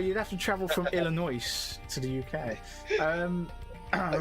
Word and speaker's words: Illinois: apologies oh i should have said it correctly illinois it what i will stab you trying to